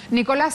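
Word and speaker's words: Nicolás Moras: se llama nicolas moras nicolás se pronuncia así tu apellido lleva acento en la a cómo te va efectivamente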